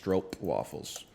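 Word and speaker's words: stroopwafel: on the map brother it's actually pronounced stro waffles that's cool um it's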